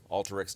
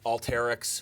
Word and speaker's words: Alteryx: want to learn more Alta Rick's calm and a lot of people want to pronounce it all Tareq's yes but but it is the word alter and that's the way